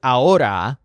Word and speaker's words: ahora: want my order hora the word hora which has a lot of emphasis and sounds kind of like the word order means now just then